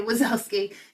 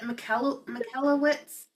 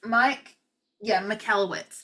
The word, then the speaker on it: Michalowicz: Profit First by Mike, I want to say Wazowski. It's like Michalowicz. I'm looking on my shelf to try and there it is. Michalowicz. It's spelt funky, but it's incredible.